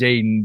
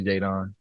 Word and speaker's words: Jaedon: pronounced Jaden, but it's three teammates named Jaden on my team last year, so that's why it got changed to Jadon.